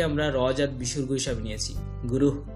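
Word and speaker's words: গুরুঃ: গুরুহ হালকা হাওয়ার মতো বের হবে, গুরুহ ব্রহ্মা।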